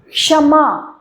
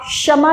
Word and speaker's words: क्षमा: बोलेंगे क्ष कक्षा क्षमा हल्का सा आप देखेंगे क की आवाज आ रही है कक्ष क्षमा आप क्षमा नहीं बोल रहे हैं आप बोलेंगे क्षमा यानी कि हल्का सा क जो होगा वो साइलेंट होगा हमें सुनाई नहीं देगा लेकिन हम बोलेंगे क्षमा क्षणिक क अंदर से बोलेंगे क्षणिक नहीं बोलेंगे क्षणिक कक्षा क्षमा क्षणिक इसी